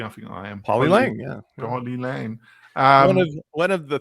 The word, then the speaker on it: Polylang: Am I pronouncing that correctly? I think I am. Polylang, yeah.